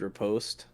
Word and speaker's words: riposte: I used parry when I could have just used riposte. It's riposte Riposte. Yeah, anyway. because it's French.